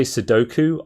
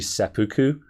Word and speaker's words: seppuku: Yes, and also when I say Sudoku, I'm saying that on purpose. I'm aware that it's actually seppuku, but Sudoku is funny because it's a deliberate mispronunciation.